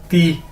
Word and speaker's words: di: मैंने पहले बताया कि DI को हमने कैसे प्रोनाउंस करना है, ती। डी को हम कैसे प्रोनाउंस करेंगे, एज अ ते या, ठीक है। तो DI ती, टी नहीं इसको कहना, ती, ठीक है, ते वाला ती।